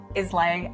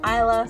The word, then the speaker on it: Islay: Sometimes I say Islay, and that is totally wrong, and everyone makes fun of my pronunciations because I totally suck at it. So I do apologize if I've said something wrong in this video, but definitely say Islay so you don't look like a fool, like I have previously.